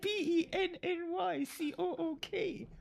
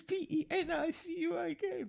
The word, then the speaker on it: Penicuik: But it's spelled a different way. It's Pennycook. And I'm living in Penicuik. But it's Penicuik, Penicuik.